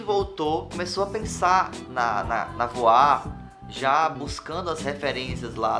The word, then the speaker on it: Voir: Porque se escreve V-O-I-R e você fala voar e as pessoas falam errado. A gente ficou nessa coisa de decidir isso mesmo.